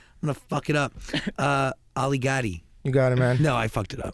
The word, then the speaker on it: Ali Gatie: it you got it it Rhymes Ali got it it does Rhyme you know that's the easy way to remember yes yeah it's beautiful